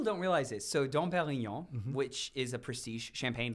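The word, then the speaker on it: Pérignon: Let's get that pronunciation down one more time. Can you just say the name of the Dom Perignon?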